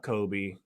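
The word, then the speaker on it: Coby: That's Kobe White, but it's spelled like Colby Jack Cheese.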